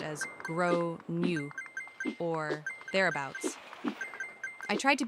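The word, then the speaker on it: Gráinne: At this point, the alarm bells are ringing in my head because I've realized that the kid is called Grain, generally pronounced as Gro New, or thereabouts.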